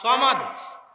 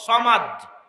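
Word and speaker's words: صمد: নামে আল্লাহ সুবহানাহু তায়ালা যে বর্ণগুলো ব্যবহার করেছেন সদ মিম দাল এগুলো হচ্ছে আরবিতে সবচেয়ে শক্তিশালী ওজনওয়ালা উচ্চারণ করতে হয় এইরকম বর্ণমালা দিয়ে আল্লাহ সুবহানাতালা তার এই নামটা সাজিয়েছেন। এই নামটার উচ্চারণও অনেক ভয়াবহ। সামাদ অনেক ভয়াবহ উচ্চারণ। সহজ উচ্চারণ নয়।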